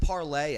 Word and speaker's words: Parler: I think it's pronounced parlay actually. But then that would just be no R. Parler. Yeah. But it's parlay, but the R silent.